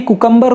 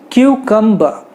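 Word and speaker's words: cucumber: अभी इसे इंडिया में भी कुकम्बर कोई नहीं कहता है, एज per Google Indian pronunciation भी कुकम्बर है ही नहीं, तो अगर आप कुकम्बर कहते हो तो ये बिल्कुल ही गलत है। लेट us call it क्यूकम्बर।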